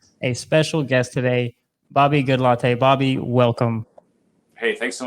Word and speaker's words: Goodlatte: Who is Bobby Goodlatte, the man, the myth, the legend? Well, for one, it's not pronounced that way, but it's I get that a lot. It's Bobby Goodlatte, and Gotcha.